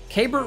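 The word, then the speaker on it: Keibert: his name pronounced because it's like is it k bear is it key bear is it keybert i've heard so many different things but k bert ruiz seemed to be what was said and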